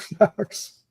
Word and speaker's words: Buck Flowers: And just so everybody knows, we're all saying Buck Flowers, but his name doesn't have an S on the end of it. It's Buck Flowers. It's just Flower, just single.